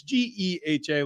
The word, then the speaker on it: GEHA: Do you guys want me to play for you the pronunciation on Geha Field Yes. or Geha or whatever it is? It's Geha, like Fletch said.